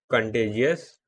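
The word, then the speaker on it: contiguous: तो ये इधर साइड लिख लेते हैं एक कंटेजियस, कंटेजियस, कंटेजियस। ठीक है। और दूसरा होता है नॉन कंटेजियस या कंटीजियस। ठीक है। जो प्रोनाउंस करो दोनों ही सही है मेरे लिए तो।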